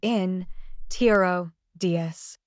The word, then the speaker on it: introduce: For example, the word introduce is pronounced with a stress at the end, so it sounds like this: in, tiro, dies. Sometimes, where you put the stress in a word can change the word's meaning.